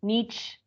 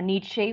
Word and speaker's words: Nietzsche: Kant, okay, Nietzsche, okay, or Nietzsche, whatever you want to pronounce it, both are okay.